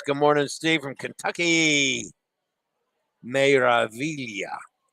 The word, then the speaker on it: Meraviglia: Meraviglia. Meraviglia. Meraviglia. I know I'm supposed to roll the R.